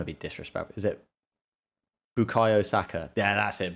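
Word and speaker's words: Bukayo Saka: i don't want to be disrespectful is it bukai osaka yeah that's it bukayosaka he's insane the fact that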